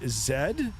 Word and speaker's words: zed: Uh, we're sitting at Toronto, C Y Zed. We do pronounce Zed in Canada.